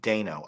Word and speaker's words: Dano: Paul I say Dano? Paul Dano, but it's Paul Dano. Dano? You said they said Dano. There's 3 pronunciations. Yeah, I've always said Dano. When in doubt, go with the long A.